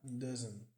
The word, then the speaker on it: doesn't: Que aqui é só omitido o it e does not é contraído para doesn't, que significa não. Doesn't, esse T aqui não é pronunciado, doesn't seem to é pronunciado como t, com som de a.